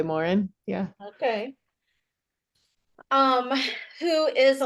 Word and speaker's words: Morin: and life coach Kari Morin. Is that how you say it? Yes. I think the my French Canadian relatives way back said Morin, but yeah, we've just always gone by Morin.